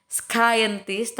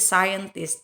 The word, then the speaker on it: scientist: ya seperti kata Scientist Jadi bukan skintest tapi Scientist Chatnya nggak dibaca a = huruf x